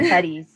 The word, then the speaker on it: Sepetys: The Petties.